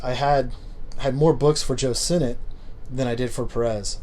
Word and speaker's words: Sinnott: And I always used to call him Sinnott, but I know it's pronounced Sinnott now, right?